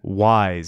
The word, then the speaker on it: Wwise: so here we are in wise spelt with 2 w SW W is e again it's similar to